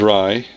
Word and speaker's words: Rai: Here's Rai, number 1. Or Ray, depending how you say it.